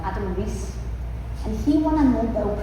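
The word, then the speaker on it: Riess: Even today, right, there's an astrophysicist called Adam Rice. Uh, no, sorry, I pronounced that wrong. Adam Reese and he won a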